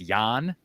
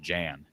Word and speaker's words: Jan: Your name is pronounced Yan.